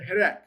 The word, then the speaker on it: hireq: So, the short I sound is called the hireq. One dot. One dot, short I, i as in hid.